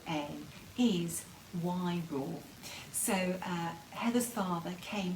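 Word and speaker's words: Wairoa: as w a i r o a is y raw so uh heather's father came from wyro in new zealand and i had a wonderful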